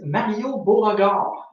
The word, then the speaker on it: Mario Beauregard: His name is Mario Beauregard, pronouncing it in French because he is, in fact, a Quebecer. I'm guessing Americans would pronounce it Mario Beauregard, perhaps?